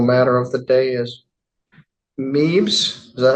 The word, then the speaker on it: Meebs: All right, our next matter and our final matter of the day is Meebs.